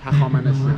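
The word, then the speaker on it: Hafezieh: Like Hafezia.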